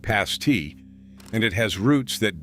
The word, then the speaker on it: pasty: The word pasty is pronounced with a short A, like past-tee, and it has roots that dig straight down into the region's copper and iron mines.